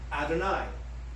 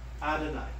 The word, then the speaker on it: Adonai: striking us they said let's replace yahweh or the pronunciation yahweh with adonai which is hebrew for lord so whenever the jews would read scriptures where it says yahweh they left those four consonants in there but they would pronounce it adonai because they knew they